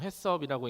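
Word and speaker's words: HACCP: 영어로 Hacp라고 적혀 있고 보통 해섭이라고 읽는이 마크 아마 다들 보셨지요?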